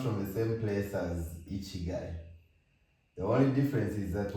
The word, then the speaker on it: ikigai: And today we're going to be talking about a very interesting concept called Ichigai.